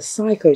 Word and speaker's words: SICO: from psycho chili and I called it cichlid chili when it's really psycho chili and I did a